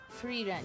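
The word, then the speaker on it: Frieren: me actually look that up how is it pronounced Reen but first we Hydrate with water please sorry Free Run yeah yeah yeah yeah reun that's what the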